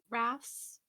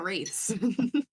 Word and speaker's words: wraiths: Then the second one would be the water rafts, Oh yeah, the water during the wraiths. test. Mhm. Yeah, that's how you say it. Yeah, wraiths.